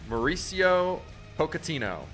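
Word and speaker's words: Mauricio Pochettino: unbelievable uh soccer news you want me to pronounce it for you please it's morrice Mauricio pocino Mauricio pocino has agreed to become the new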